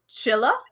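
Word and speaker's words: Csilla: The CS is one letter in Hungarian, so it's pronounced so it's Chilla?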